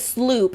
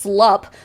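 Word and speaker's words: SLU-PP: Well, they pronounce it sloop even though basic understanding of the English language would suggest it's pronounced slop.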